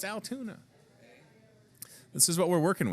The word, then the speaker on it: Altoona: about Altoona Iowa and if you need to have it broken down kind of phonetically Altoona yeah there you go